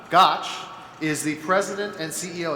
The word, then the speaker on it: Gotsch: Maria rhymes with Scotch. Gotch is the president and CEO at the Partnership Fund for New York City.